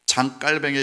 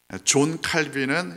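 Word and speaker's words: Jean Calvin: 장깔뱅은 우리가 존 칼빈이라고 이름을 부르기도 하는데, 존 칼빈은 이제 영어식으로 우리가 부르는 거고, 사실 장깔뱅은 프랑스에서 태어났기 때문에 샹깔뱅 이런 식으로 발음해야 되는 게 좀 더 맞는데, 그래도 최소한 프랑스식 이름으로 해서 장깔뱅이라고 이름 붙이는 것이 좀 더 학계에 있어서는 이게 좀 더 적절한 이름이다, 이렇게 이야기를 하기도 합니다.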